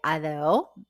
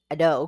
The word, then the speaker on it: ADO: the other or Ado depending on how you say it then in Spanish you say Ado but typically in um English you may say a no because it's spelled Ado bus station in comparison